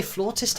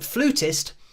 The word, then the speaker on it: flautist: floor says I mean we say flautist here in the UK but I'm sure it's spelled f-l-a-u-t-i-s-t the spelling isn't my strong point uh but yeah that's how it's spelled here when we talk about somebody playing the flute so I know that it's different over in the USA I mean I think flutist probably makes more sense or just a simpler